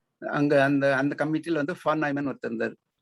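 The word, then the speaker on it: von Neumann: அந்த அந்த கமிட்டியில வந்து ஃபான் நாய்மன் ஒருத்தர் இருந்தார். அது எழுதுறது விஓஎன்னு சொல்லுவோம், ஆனால் ப்ரொனவுன்ஸ் பண்ணிட்டு ஃபான்னு சொல்றாங்க. அது மாதிரி NEUMANN அது பேரை வந்து நாய்மேன் அப்படின்னு சொல்றாங்க.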